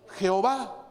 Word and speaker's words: Jehová: en el hebreo que hoy traducido al castellano se pronuncia pronuncia jehová sí pero llegó el